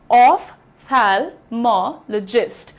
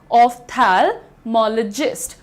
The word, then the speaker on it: ophthalmologist: तुम्हारा PH होता है, इसको जब तुम फिजिक्स पढ़ते हो तो यहाँ तो फ का साउंड दे देते हो, फिर यहाँ पर फ का साउंड क्यों नहीं देते हो? देना चाहिए। The pronunciation is ऑफ्थेल्मोलॉजिस्ट।